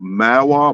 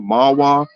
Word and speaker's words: Mahwah: I think it's called Mawa, Mahwah. It's M-A-H-W Mahwah is how it's spelled.